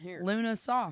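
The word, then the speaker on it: Lughnasadh: So it is Lunasa. I'm pretty sure. I totally butchered that. Okay. Lunasa. Here. How do I? It has the pronunciation. Yeah. Luna Saw.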